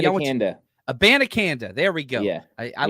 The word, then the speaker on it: Abanikanda: Is that am I pronouncing Abanikanda? Abanikanda.